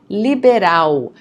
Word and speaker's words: liberal: Então, interessante, independente, inteligente, interessante, liberal. Notice the pronunciation of the L at the end of the word, okay? It's not L, it's U, okay?